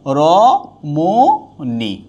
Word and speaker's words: রমণী: তাহলে কি হবে র মো নি, রমণী। কখনো মূর্ধন্য হবে না, সবসময় দন্তন্য হবে, কখনো হ্রস্ব ইকার হবে না, আর কখনোই দীর্ঘ ইকার হবে না, সবসময় হ্রস্ব ইকার হবে।